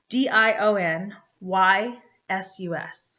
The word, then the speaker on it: Dionysus: about the festival of Dionysus Dionysus is spelled d io n like Dion like yummy pizza d io n y su s d io n y su s that's Dionysus and he's the god of